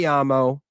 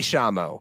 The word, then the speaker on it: llamo: that we all must pronounce the double L no longer as a ya. It's no longer me llamo. It's me llamo, because that's how they say it in Argentina.